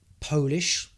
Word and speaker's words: polish: Now next one, Polish. So that is Poland is a country, and if you're from Poland, you're Polish, but also you can pronounce it as polish.